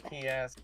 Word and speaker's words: Kiaz: It's Keys, but with an A instead of an E at the end.